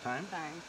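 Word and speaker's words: thyme: how it's spelled fine right there but it's pronounced time okay and this is a sprig i've never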